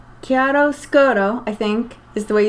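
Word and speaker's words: Chiaroscuro: And I always wanted to let you know that the correct pronunciation for the sweater you're making is Chiaro Scuro.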